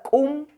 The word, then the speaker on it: cum: Y la palabra cum, que se pronuncia muy simple y que significa ayote.